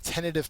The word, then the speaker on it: tentative: It's a first syllable accented word.